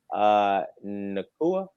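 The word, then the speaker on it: Nacua: Nakua, that's how you say it. Puka Nakua.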